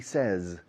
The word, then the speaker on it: says: La pronunciación cambia y se asemeja al pasado. Says, pero con S al final. Says, said. Como sesos, Ses o said. Sin la o.